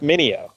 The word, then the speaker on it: Meugniot: will uh last name is m-e-u-g-n-i-o-t yeah it's mineo yes ineo that is a wild wild stuff